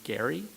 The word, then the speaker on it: Gerry: call it gerrymandering because they pronounce their name Gary. And so this is a letter that they wrote to Chief Justice Roberts last year protesting the use of the soft G.